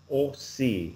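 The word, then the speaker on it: aussi: So, OC, it's not O, it's O. Yeah. So, each time you see an AU in French, it's always going to be pronounced like this. O we. So, it's like O. no matter what.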